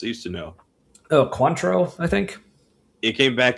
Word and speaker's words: Cointreau: Oh, Cointreau, I think. It came back to me right before you said it. Mm. It looks like coin true.